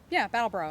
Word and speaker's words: Brattleboro: Do you want to tell about the this was a part of the Brattleboro. Am I saying it right? Brattleboro. Okay. They put those R's in weird spots.